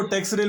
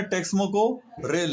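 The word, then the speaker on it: Texmaco Rail: नहीं करना है दोस्तों कुछ लोग इसको टैक्स रेल भी बोलते हैं लेकिन इसका जो नाम है टेक्समो को रेल है प्रोनाउंस के बारे में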